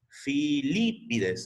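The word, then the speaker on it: Filípides: Filipides, o sea, con acento en la segunda I.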